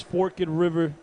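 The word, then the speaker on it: Forked River: it forkid River uh from what I gather it's forkid River New Jersey forgett River f for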